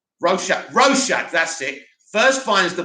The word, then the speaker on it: Rorschach: Rorschach, that's it, first finds the badge and subsequently